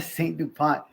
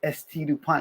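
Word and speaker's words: S.T. Dupont: Somebody was like, "Hey, bro, it's not a Saint DuPont, it's St. DuPont."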